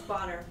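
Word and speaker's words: Bohner: It's Bonner.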